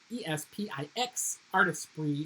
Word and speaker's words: Artesprit: maybe the sublimation markers, they're called Artesprit, and they're spelled Artisprix. It's a French word, I guess. I don't know. Artespix, Artesprit is how it's pronounced.